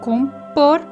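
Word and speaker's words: compor: una música por ejemplo en portugués es como por y en la sílaba tónica es la última con por y en esta está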